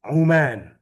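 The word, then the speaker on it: عُمان: Kalau Uman nanti bacanya bukan umman jadi aman Yordan. Aman kalau ada tasdid di mimnya.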